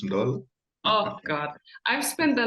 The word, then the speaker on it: Ndolo: And Ndolo, they make the N more pronounced. Yes. And Ndolo, not Ndolo. Or they try to put in an A or an O between the Yes.